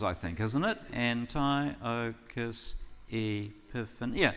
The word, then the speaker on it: Antiochus Epiphanes: So, I want to talk about this guy, Antiochus Epiphanes. You want to try it with me? Antiochus Epiphanes. That's 8 syllables, I think, isn't it? Antiochus Epiphanes.